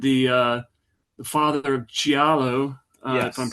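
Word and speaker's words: Giallo: is considered the uh the father of Gialo, if I'm pronouncing that right.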